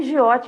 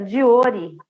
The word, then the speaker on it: Giotti: Não era nem Giotti a pronúncia, era Diori, mas ninguém sabia falar Diori e todo mundo falava Giotti.